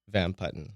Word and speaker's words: Van Putten: progress so so Kennedy pronounce your name van putton yes how do you pronounce it Van putton van putton can you talk to